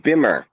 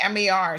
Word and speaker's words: Bemer: You said Beamer. Well, I don't know how it's pronounced. It's Bemer.